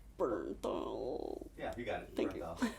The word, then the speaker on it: Bernthal: And John, I'm going to mispronounce his name. Bernthal.